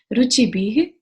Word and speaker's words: रुचिभिः: सबसे पहले उच्चारण, पहली लाइन, यई शांत राग रुचिभिः, विसर्ग है तो ह का साउंड आना चाहिए, रुचिभिः परमाणुभिस्त्वम्।